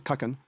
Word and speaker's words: Kagan: Yes, Kagan, but it's pronounced as Kakan.